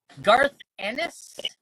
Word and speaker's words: Garth Ennis: Pronounce his name so I don't get teased again. Garth Ennis.